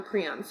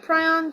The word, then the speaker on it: prion: Okay, so human prion diseases, or prions. I've heard it pronounced both ways, and because we're not together, it doesn't matter how you pronounce it, because I can't hear you. So prion diseases or prion diseases.